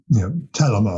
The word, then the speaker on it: Thelema: Thelema is a Greek word, and there are various other pronunciations of it. So this is kind of an Americanized pronunciation of the Greek. I've had Greek professors tell me that it's more of an aspirated T, and the accent's on the first syllable, so it's more of a telema or something like that.